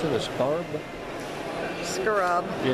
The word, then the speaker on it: Scarab: How do you pronounce it? A scarab?